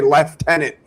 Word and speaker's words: lieutenant: the way these pronounce lieutenant. I I'm going to I'm going to shoot the whole country up. I never hear a say left tenant to my face.